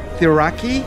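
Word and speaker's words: Cirauqui: Coming to the town of Thiraki, that's how they pronounce it, the locals pronounce it.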